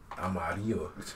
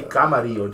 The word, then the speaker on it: amarillo: Amarillo. Amarillo. It's red. I know. Roja is red. But Amarillo. Amarillo. Mm-hmm. What does, how do you say? Say camarillo. Just say amarillo. Instead of camarillo, amarillo. Amarillo. Camarillo.